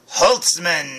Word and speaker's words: Holtzmann: mckinnon that's right jillian holtzmann now they say her name in the commercial they say holtzman but i didn't know